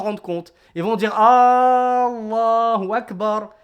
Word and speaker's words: Allahu Akbar: Ils vont dire Allahu Akbar. Et le fait d'allonger le Allah dans Allahu Akbar, c'est poser une question.